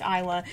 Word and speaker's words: Isla: I like you so I'm gonna pronounce her I yell up probably a lot but it's technically pronounced Isla she just came instead